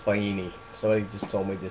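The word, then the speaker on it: Faini: When I was talking on the phone to people in Italy, it's pronounced Fini.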